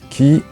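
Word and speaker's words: 木: Le kido, qu'est-ce que c'est qui ? C'est l'arbre. En japonais, l'arbre se prononce qui ?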